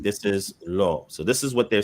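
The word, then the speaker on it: לֹא: So it's pronounced lo because what's ascribed to the aleph is the cholam, right?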